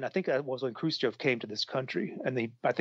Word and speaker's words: Khrushchev: They what was it, Khrushchev? Am I pronouncing his name right?